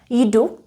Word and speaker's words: jdu: These words that I wrote here can be pronounced in two ways. The proper pronunciation would be with y. Jdu, I go, I walk. Jdu, jdeš. But when we speak, commonly we don't pronounce it when there is a y in front of a consonant, like here at the beginning of a word.